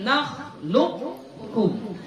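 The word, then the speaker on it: نخلقكم: Satu, qafnya tetap dibaca. Alam, enggak qalqalah ya, baca tapi enggak qalqalah. Alam nakhluq, dia masuk ke qaf. Nakhluqkum, nakhluqkum. Qaf dulu baru kaf.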